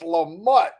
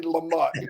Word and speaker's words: Lamott: It's so funny when he said, no, you got to say it right. It's Lamott. And I went, Dang, I was trying so hard not to say Lamont.